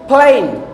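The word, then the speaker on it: plane: তো এটার উচ্চারণ হচ্ছে প আর ফ এর মাঝখানে, ফেন, ফেন, ফেন, প্লেন। তাহলে কি করলাম, ঠোঁটটা লাগায়া তারপরে বাতাসটাকে ছুঁড়ে মারলাম দূরে। ঠিক আছে, এইভাবে উচ্চারণ করবেন।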